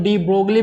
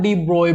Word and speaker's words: de Broglie: देखो, पढ़ने के लिए हम डी ब्रोगली भी बोल देते हैं और वैसे इसका नाम डी ब्रोय भी होता है। इसमें जी और एल साइलेंट होता है, तो आप इसको ऐसा भी पढ़ सकते हो, डी ब्रोगली भी बोल सकते हो, और या फिर आप